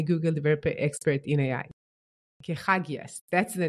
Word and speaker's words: Kechagias: Kechagias, that's the name, right? Yes, that's correct. Kechagias. Yeah, no, I pronounce it well.